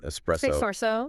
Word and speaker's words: espresso: Um and then espresso. People want to add an X in there.